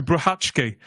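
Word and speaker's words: Brachacki: know what happens next can I just say the name PR Peter bratki just because I'm really pleased myself for learning how to pronounce it after 30 years I'm still not convinced it looks like Peter Baki to me but there we go what do I know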